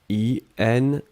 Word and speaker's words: inconnu: Alors, faites attention avec le premier mot, puisqu'effectivement, inconnu, on peut le prononcer de la même façon au masculin et au féminin. Ici, vous voyez clairement que l'article c'est un, donc ça va être le masculin. I-N-C-O-N-N-U, d'accord?